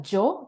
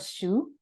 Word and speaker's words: Hsu: Japanese too but uh Japanese people are told to call pronounce or read the kanji as Joe instead of shu so a lot of